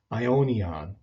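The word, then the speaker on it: αἰώνιον: The next word down on our list is the adjective for eternal, and it's pronounced aionios in the masculine, or when it's a neuter adjective, it's aionion.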